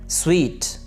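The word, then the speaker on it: suite: सूट लफ्ज़ नहीं है बल्कि ये स्वीट।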